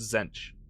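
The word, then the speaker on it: Tzeentch: that makes complete sense the t is silent by the way just say Zen yep yep I got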